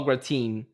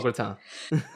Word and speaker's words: gratin: They pronounce it a gratine. And I'm like, what? It's a gratan.